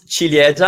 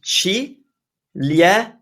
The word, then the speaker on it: ciliegia: That's cherry, and it's ciliegia. Ciliegia. in Italian, in the GIA combo, it's pronounced già. There's no I, you don't pronounce it. So ciliegia. And Narine, how do I pronounce your name in Italian?